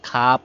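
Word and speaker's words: خواب: খাজা অর্থ সম্মানী ব্যক্তি তারপরে খাওয়াব পড়ি নাই খাব পড়েছি মানে ওয়াও সাইলেন্ট ওয়াও পড়তে হবে না খাব অর্থ স্বপ্ন খাহেশ খাওয়া হেশ ছিল ওয়াও সাইলেন্ট এজন্য খাহেশ খাহেশ অর্থ ইচ্ছা।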